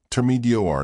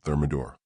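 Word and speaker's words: thermidor: It's pronounced termedar, not thermodor, perhaps invest in a French dictionary.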